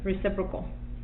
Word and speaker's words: reciprocal: that I it correctly sis bro cool yep reciprocal okay so reciprocal that's that's